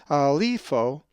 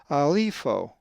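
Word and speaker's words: ἀλείφω: If you said alipho, you are correct, as the accent is over the iota in the epsilon iota diphthong. alipho. Now let's pronounce this Greek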